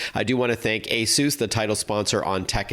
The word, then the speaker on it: ASUS: And yes, it is pronounced ASUS, and this is not Asus or Asos or anything like that.